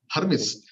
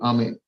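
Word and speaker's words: Hermès: Actually, I was told this is not the pronunciation that you have. It's not Hermes. It is HERM. MIS is called Ame, and my English entire schooling fails to pronounce the name.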